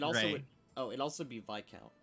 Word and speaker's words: viscount: oh it also be VI count not Viscount uh we should speak to the vi count about what information we can disseminate and it is vice by the way I was just correcting